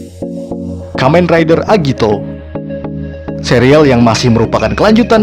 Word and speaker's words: Agito: dari aksara Yunani kuno Meskipun demikian serial ini tetap disebut Agito tanpa pengucapan yang bervariasi layaknya serial lainnya Agito